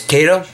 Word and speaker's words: Kato: The big seller is Kato, or Kato, how some people pronounce it.